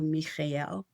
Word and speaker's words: Michael: Holy Archangel Michael, but he told me to call him Holy Archangel Mikel. And so that's how I say his name.